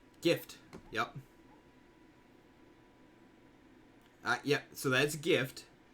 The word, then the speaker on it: GIF: It was like, no, it's actually supposed to be pronounced GIF, like the peanut butter. Gift.